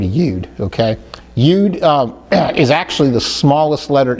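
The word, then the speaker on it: יוד: So I prefer to use the word ude.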